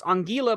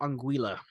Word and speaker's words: Anguilla: let's say hang on it is pronounced so it's on Gila but the locals call it anguila okay okay okay I